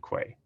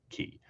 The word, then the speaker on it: Quay: registry azure container registry and quay or key depending on how you pronounce it we now also support